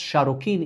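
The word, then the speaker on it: Šarru-kīn: And this is also when he took the throne name Sargon, pronounced Sharokin in Akkadian, which means true king.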